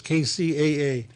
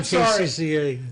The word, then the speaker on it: KCAA: chair i don't know i i said cca sorry mark i i didn't mean to say it like that sorry frank kcaa those